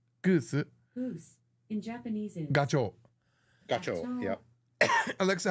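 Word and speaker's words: ガチョウ: goose in Japanese Goose goose in Japanese is gacho gacho yeah Alexa how do you say Gander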